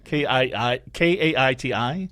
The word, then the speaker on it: Kaiti: Okay, because you don't spell it Katie. It's like Kaiti.